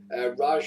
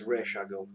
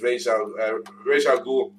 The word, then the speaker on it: Ra's al Ghul: At which point Yeah, how's the old man? Raj, isn't it? He goes, it's Ra's al Ghul. Yeah, and that's it. That's always been his fuck you love. Like that's how it's said.